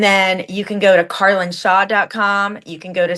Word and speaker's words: Carlyn: audience um yes absolutely well uh my name is spelled c a r l y n Carlin my name is Carlin Shaw so my Instagram handle is connect with